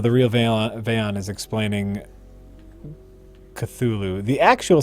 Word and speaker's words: Cthulhu: Oh, it's Oh, okay, yeah, and he said it's supposed to be like the H is supposed to be like guttural thickness, like you said, like unpronounceable, like Yeah.